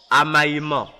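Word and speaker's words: Amaimon: L'est est dirigé par le démon Amaïman.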